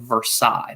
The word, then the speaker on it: Versailles: that it's actually pronounced versailles it's pronounced for sales in kentucky but in france it's versaille and at the palace